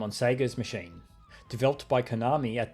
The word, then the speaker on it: Sega: but related note, yeah, when I was growing up it was very common to call them Sega in Australia, and many people here still do. I don't remember exactly when I personally stopped pronouncing it that way, I just remember that at some point, I figured that since the actual company pronounced it as Sega, and they say or